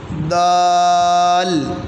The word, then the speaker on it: دال: Next والا پڑھتے ہیں دال، آپ بھی پڑھیں، جب دال ادا کرتے ہیں تو اینڈ پہ لام کی آواز آتی ہے، دال دال شاباش۔ آپ